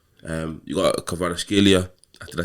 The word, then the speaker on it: Kvaratskhelia: You got Kvaratskhelia. Did I say it right? You got it right, yeah. I actually got it right. I was surprised. Kvaratskhelia, Messi, Maradona.